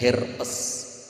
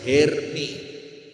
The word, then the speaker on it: Hermès: Sekelompok wanita dengan tas bermerek, mereknya adalah Herpes. Kantung herpes. Kamu tau itu? Tas mahal apa itu? Herpes. Bagaimana jika itu herpes? Oh, cara membacanya bukan seperti itu, Bu. Hermès.